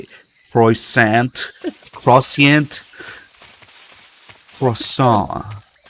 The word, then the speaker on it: croissant: say Freud Sant crociant croissant the t is silent raw salt no the